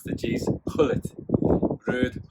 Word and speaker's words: Gullit: You don't pronounce the G's. Gullit. Ruud Gullit.